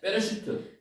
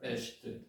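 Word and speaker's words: בְּרֵאשִׁית: 아까 그 발음으로 자음하고 모음하고를 연결시키면 이렇게 읽을 수 있습니다. 이게 베레시트입니다. 베레시트.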